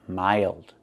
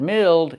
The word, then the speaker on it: mild: Pronunciation mild, not mild, it's mild.